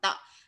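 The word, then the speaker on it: 的: không, sách của tôi, sách của tôi thì mình phải đọc là tợ.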